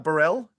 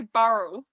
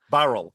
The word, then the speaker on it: Burrell: Burell. Uh, I mean that's how most Australians like to pronounce it, but but in New Zealand we say Burl. Burl.